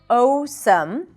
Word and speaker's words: awesome: a phonetic language, and when you see those two letters, it doesn't necessarily represent the sound ow. So this is not audio, and this is not awesome, but both vowel letters actually represent one vowel sound, and that is ah.